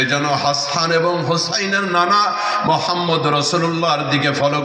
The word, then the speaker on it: হোসাইন: হাসান আরেকজনের নাম হোসাইন অনেকে ভুল উচ্চারণ করে বলে হাসান আর হাসাইন না হাসান এবং হাদিসের ভিত আল্লাহর